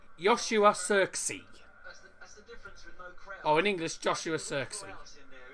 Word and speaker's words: Joshua Zirkzee: How do you pronounce the goal scored, man? Joshua, it's Joshua Zirkzee.